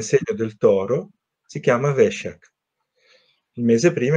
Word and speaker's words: Vesak: c'è chi dice Vesak, c'è chi dice Vesak, invece no, tu mi dici che La pronuncia giusta è Veshak. Vesak. Veshak perché è il nome